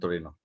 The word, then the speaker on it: Torino: That's how Italians pronounce or write Turin. That's how you get Mito. It's from Milan and Torino.